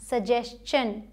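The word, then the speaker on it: suggestion: ठीक है, एक्सेप्शन यहाँ भी देखिए, अगर एस के बाद टी आई ओ एन आता है, एस के बाद मतलब इससे पहले अगर एस आ जाए तो इसे शन नहीं चन प्रोनाउंस करेंगे। जैसे यहाँ सजेशन, इसे सजेशन पढ़ा जाता है, यहाँ एस है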